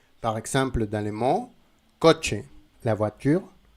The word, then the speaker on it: coche: En espagnol, si tu as la lettre C et la lettre H, la prononciation c'est ch, ch. Ce n'est pas ch, ch, c'est ch, ch. Par exemple, dans les mots coche, la voiture, coche.